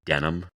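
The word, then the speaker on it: Denham: God, could you imagine being denim? Denim. Woick. Denim. Not spelled like the pants. Spelled D N H A M.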